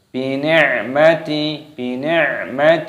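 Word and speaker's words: بِنِعْمَةِ: Bi ni'mati, ainnya sukun dibaca mati.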